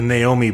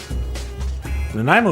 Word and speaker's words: Nanaimo: the Nanaimo bar, and they all said it wrong. There was a bunch of Naomi bars, a few Nanaimo bars. Oh, I wish I saved that clip. It was a good one. Nanaimo is a city.